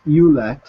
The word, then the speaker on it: Ouellet: Yeah, as far as I know, it's Ouellet, E-W-Let. That's how he pronounces it.